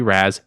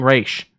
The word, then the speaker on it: Ra's: And for anyone that's going to argue, it is spelled R-A-S. I know it seems like it should be Raz. It's an actual word that's not English. It's fucking Raish, people.